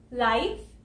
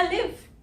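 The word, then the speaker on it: live: इस वर्ड को हम लाइव भी बोलते हैं और इस वर्ड को हम लिव भी बोलते हैं, क्योंकि ये वर्ड एक होमोग्राफ है।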